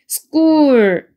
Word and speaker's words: school: you 해서 your 이렇게 되고 얘는 school인데 s는 s, k는 크 소리인데 센 소리가 두 개 만나면 이렇게 두 개 만나면 여기 뒤에 게 쌍기역 발음으로 바뀌어서 school 이렇게 읽으셔야 돼요. school의 L 발음이죠. 혀를 갖다가 윗니 천장으로 앞니 천장으로 이렇게 밀면서 올려줍니다. school 이렇게 되죠.